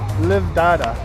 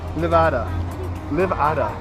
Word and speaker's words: Livada: Livdada. Livdada. Is that right? Yeah, you weren't saying it right. Livada.